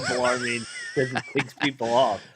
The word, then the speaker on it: Bellarmine: We got to talk about y'all pronouncing my alma mater, Bellarmine, as Bologna.